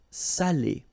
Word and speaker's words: salé: So if you don't put the accent, it means dirty, and then you pronounce it sale. But in that case here, okay, you put the accent, and it's quite important because in that case it means salted.